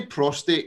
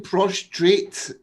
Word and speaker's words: prostate: uh uk bleeding say prostate cancer prostate cancer all your videos you're saying prostrate and i'm like he's not saying it right he keeps saying prostrate it's poster posture oh